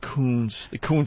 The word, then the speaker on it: Kuntz: But I guess it was pronounced Coons.